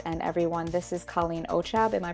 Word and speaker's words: Ochab: And everyone, this is Colleen Ochab. Am I pronouncing it correctly?